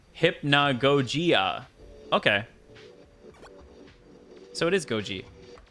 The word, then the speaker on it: Hypnagogia: game's title hypnogogia and you pronounce it hypnogogia okay so it is